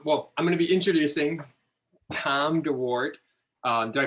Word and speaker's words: Dorwart: I'm going to be introducing Tom Dorwart. Did I pronounce that correctly? Close. Dorwart.